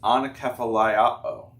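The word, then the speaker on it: ἀνακεφαλαιόω: It might be hard to read it, but it's pronounced anakephaliao.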